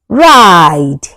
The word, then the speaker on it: ride: ride You can hear the sound of i and e goes silent.